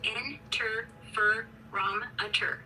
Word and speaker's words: interferometer: Inferro, pronounced in fur ro.